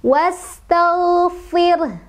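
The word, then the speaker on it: وَاسْتَغْفِرْ: Was tal fir, fir. Ro-nya, ya, ro sukunnya didahului oleh huruf yang berharokat kasrah, ya. Jadi, ini dibaca tarqiq, ya. Karena apa? Karena didahului, ro-nya, ro sukun, didahului oleh huruf yang berharokat kasrah. Cara bacanya adalah, ro-nya dibaca tipis. Kemudian, di belakangnya ada ha.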